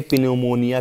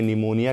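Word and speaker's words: pneumonia: ये पिनोमोनिया के बारे में है, जिसको हम इंग्लिश में निमोनिया कहते हैं, या इंग्लिश में इसको भी निमोनिया कह सकते हैं अगर पी साइलेंट है तो।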